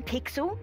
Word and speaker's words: Pixel: name's not weird guy i'm pixel it's easy to remember because it rhymes with pickle so it does i'm